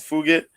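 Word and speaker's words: Fugitt: The way it's spelled is like it sounds like F it, but yeah, it's Fugit.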